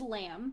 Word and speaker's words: Lam: So I'm gonna if I ever play her, her name is Lamb because she is a changeling actually, and so because changelings have to have like one syllable names, and so because of that, it's spelled LAM, and I don't know